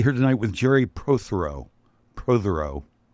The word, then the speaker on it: Protheroe: Protheroe. Did I say it right? Yeah, you certainly did. I did? Close enough, or actually right? Very close. Very close.